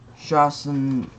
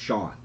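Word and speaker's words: Shawon: First up, we got Shawson. It's actually Shawan. But Shawan. It's pronounced Sean.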